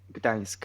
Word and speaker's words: Gdańsk: Gdańsk, at the seaside. I'm a seaside guy. He ain't ever going to pronounce that. All right, let's try. Yeah, what? Gdańsk.